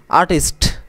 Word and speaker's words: আর্টিস্ট: আর্টিস্ট, আমরা কি বলি? আর্টিস্ট। উপরে রেফটা উচ্চারণ মাঝে মাঝে করি না, হবে কি? আর্টিস্ট।